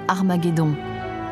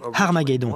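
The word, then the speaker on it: Ἁρμαγεδών: testament rédigé en grec armageddon s'écrit avec une lettre aspirer ce qui indique que la première syllabe à se prononcer dès 15 h aspiré si bien qu'à l'origine c'était armageddon a du reste entre armée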